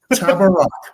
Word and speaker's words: Tabarrok: sort of frustrates me because it's phonetic. Like people look at the name and they go, I don't know how to pronounce that. Sound it out. Tabarrok, like it is phonetic.